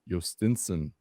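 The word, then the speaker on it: Jhostynxon: Uh Pirates want to send Jos Nixon Garcia. The pass. I looked it up. Did you you want to pronounce that for me, baby? It's Yosten Garcia. Yostinson.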